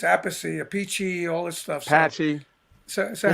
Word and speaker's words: Appice: Patchy. So how do you say? How do you want to say it? So most people said Appice, and I used to correct them.